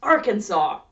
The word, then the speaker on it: Arkansas: And the pronunciation is set forever and ever, by law, as Arkansas. So that's that right? Standardize the pronunciation, standardize the spelling, surely that's enough grammar-based legislation for any state, right?